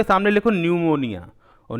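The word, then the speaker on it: pneumonia: पी एन ई यू एम ओ एन आई ए यानी निमोनिया का spelling N से शुरुआत नहीं होता पी से शुरुआत होता है।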